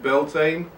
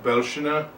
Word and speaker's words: Beltaine: Well, whether you pronounce it Beltaine, Beltaine, Belshina, or any of the other 103 variations, it is the fire festival that happens around the beginning of May.